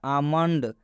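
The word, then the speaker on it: almond: इसमें भी आप देख सकते हैं एल के बाद एम आया है, और जब भी एल के बाद एम आएगा तो इस एल का उच्चारण नहीं करना है, एल साइलेंट हो जाएगा।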